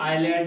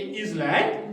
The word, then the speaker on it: island: आइलैंड, S silent रहता है, और ये आइलैंड है, ये इजलैंड नहीं है।